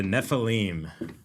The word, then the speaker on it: Nephilim: bride essentially and they make something called the nephilim ne.